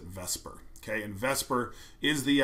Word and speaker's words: VSEPR: you just pronounce it Vesper even though I know the S comes first before the E typically people pronounce it Vesper okay and Vesper is